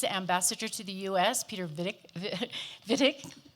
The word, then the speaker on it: Wittig: We have, on the panel, we have Germany's ambassador to the U.S., Peter Wittig. We just discussed pronouncing it V instead of W.